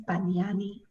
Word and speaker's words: Bagnani: I think it's Bagnani. Cool. But how do you pronounce it, Rick? No, you pronounced it exactly how it's pronounced.